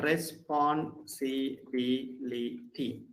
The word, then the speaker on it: responsibility: So where do we lay the stress in the words ending with the ety, that is R-I-T-Y? It's the rule is anti-penultimate syllable. In other words, third syllable from the last.